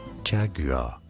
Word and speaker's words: Jaguar: In British English, it is said as Jaguar.